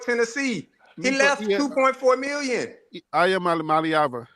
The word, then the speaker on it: Iamaleava: Iamaleava. No, it's Nico Iamaleava.